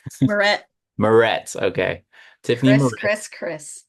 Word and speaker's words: Meuret: place those in the chat um so Tiffany morray am I pronouncing that right morett morett okay Tiffany Chris Chris I'm sorry Tiffany